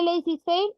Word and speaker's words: laissez-faire: Este laissez-faire está en francés, yo no hablo francés, yo busqué cómo se pronuncia y se pronuncia así. Si alguno habla francés y me quiere corregir, le acepto la corrección.